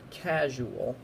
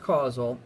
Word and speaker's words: causal: that's not the word casual okay casual is c-a-s-u-a-l it's not the word casual it's the word causal okay and it's pronounced causal and the base word is cause like cause and effect when when there's a